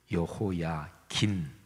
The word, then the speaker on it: 여호야긴: 근데 여고냐는 여호야긴, 이렇게도 이제 성경에 기록이 되어 있어요. 같은 인물입니다. 그러니까 유다의 왕 여호야김, 그리고 그의 아들 여호야긴, 아버지는 김, 미음 받침이고 아들은 긴, 니은 받침이 들어가요.